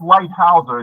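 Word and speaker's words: Leithauser: Light is pronounced Lighthouser. It's a German name.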